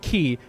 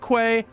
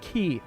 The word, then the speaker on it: quay: key I know that it's pronounced key not Quay ha you thought that